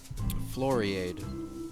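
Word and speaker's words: Floriade: the Steve Irwin's family was at Florrie ade Florrie ade yeah that's how they pronounce it there's live comedy shows and they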